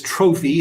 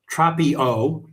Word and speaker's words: Tropio: So, these are uh I thought it was trophy. It's not trophy. It's tropy. Tropio.